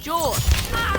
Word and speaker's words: Jorge: pronounced George.